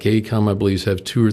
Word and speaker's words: AECOM: capital e a capital a e c o m a e com and that's the way they they pronounce they bought up a